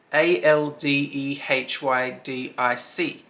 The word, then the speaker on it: aldehydic: don't even know how to say that word a l d e h y d i c elder hick wait let me see how you actually pronounce that i need to know is this